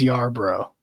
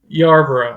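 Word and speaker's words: Yarbrough: But the R is actually right after the B. It seem like it's Y bro. Isn't that what you just said? Yuro. I'm putting a little R.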